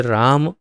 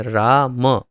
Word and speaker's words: राम: तो कुछ सामान्य चीज़ें थोड़ा ध्यान देंगे तो जैसे राम, तो राम ये उसका उचित उच्चारण है राम, लेकिन या तो राम उच्चारण करते हैं या रामा करते हैं।